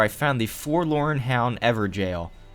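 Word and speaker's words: Evergaol: found the forlorn hound ever jail yes it is pronounced every jail naturally i wanted to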